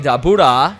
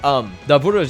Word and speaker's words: Dabura: I know people, I don't know, do you guys hate it when I say it like that? Apparently that's the right pronunciation. Yeah, that's the right way to pronounce it.